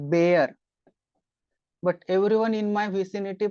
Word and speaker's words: Baer: is pronounced like this probably like beer but everyone in my vicinity pronounce it as buyer so I know it's